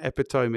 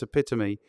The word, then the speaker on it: epitome: incredible apart from me can't pronounce epitome it's not epitome it's epitome so let's go back and